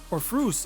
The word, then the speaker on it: Orpheus: Now, on Eox, there is a city called Orpheus. Orpheus? Or Frus if you're going with the Greek pronunciation.